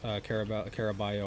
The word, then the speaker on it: Caraballo: Is that how you pronounce her last name? Yes, Caraballo, I think. But Caraballo, yeah.